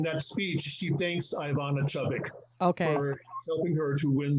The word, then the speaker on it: Chubbuck: So the technique that you teach, Victor, is the, and I know I'm going to mispronounce it, but you can help me, the Chubbuck or Chubbuck? It's based on the Chubbuck technique.